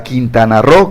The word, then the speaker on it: Quintana Roo: Perdón, no es Quintana Roo, para Quintana Roo, que es lo correcto la pronunciación, sí.